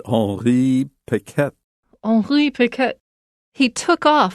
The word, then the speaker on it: Henri Piquet: How did you pronounce this dude's name? Piquet? The Frenchman? Yeah. I said Henri Piquet.